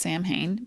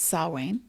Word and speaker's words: Samhain: So on October 31st, Halloweeny and Samhain. Some people think it's pronounced Samhain, but it is Samhain.